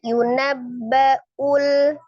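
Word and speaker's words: يُنَبَّأُ: Hati-hati ya, itu Hamzah. Jadi bacanya jangan yunul yunul tapi yunabbaul ul ya diperjelas hamzahnya insanu situ ada nun sukun bertemu dengan huruf sin ya.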